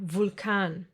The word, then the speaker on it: Vulkan: But sometimes, just sometimes, it will be pronounced like the German W. Remember? V. Like in the words Vampir or Vulkan.